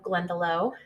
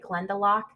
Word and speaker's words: Glendalough: is the layout of glendalough and just for a little fun piece of information it they actually brought the name from an irish background so some people will actually call it glendalock i believe that is